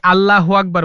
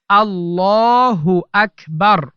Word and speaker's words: আল্লাহু আকবার: অনেকে আল্লাহু আকবার বলে, ভুল উচ্চারণ। সঠিক উচ্চারণ হচ্ছে আল্লাহু আকবার।